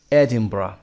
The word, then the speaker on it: Edinburgh: آرتور کانان دایل در ادینبورگ در 22 می 1859 به دنیا آمد. ادینبرا به این صورت تلفظ میشه. ادینبرا.